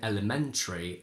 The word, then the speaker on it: elementary: we can't say Eerie both in elementary and exemplary the main stress Falls